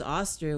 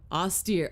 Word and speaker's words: austere: He was I don't even know if I'm saying it right. Hold on. Can I hear it? Austere. Oh, okay.